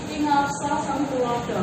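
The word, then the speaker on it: Ing ngarsa sung tuladha: Kalau orang Jawa itu bacanya Ingarsa Samtulodo gitu ya. Kalau penulisannya itu ada A, kalau ucapannya itu double O ya.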